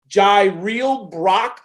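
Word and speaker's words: Jirehl Brock: I might be pronouncing his name wrong. Jaireel Brock of Iowa State.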